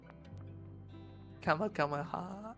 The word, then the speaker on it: Kamehameha: Kamehameha.